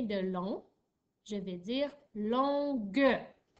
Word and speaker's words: longue: n j'ai une heure c'est important que tu n'oublies pas le u dans longue puisque si tu ne mets pas le u il ya toute une rallonge puisque le g devant le il est doux alors qu'est-ce qu'on fait